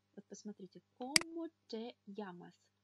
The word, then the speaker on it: llamas: «Como te llamas?» «Как тебя зовут?» Удвоенная буква L является отдельным буквом в испанском языке. И она читается как «эйе». «Эйе». Одинарная буква L читается как «эле», а удвоенная «эйе». И поэтому она всегда читается как «е» в слове «йогурт».